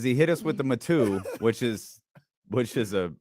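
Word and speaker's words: Matoo: m-a-t-o-o number two Freeport matu uh thank you to the new guy who's telling us how it's pronounced and it is not pronounced me too oh man fantastic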